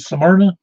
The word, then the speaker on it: Smyrna: Does anybody call it Smyrna? Just like the Bible. Yeah, that's right. It is right. No, I meant the pronunciation.